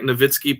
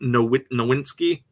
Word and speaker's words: Nowitzki: But like when we've had a guy like Nowitzki playing in our league for 20 years and people are still calling him Nowinski, it bothers me.